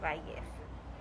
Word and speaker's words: Vallez: the the l yeah the two l's in spanish um make the y sound so so value oh if i was